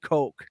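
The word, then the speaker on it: Koch: that's how you know they have money it's pronounced Coke because that looks like when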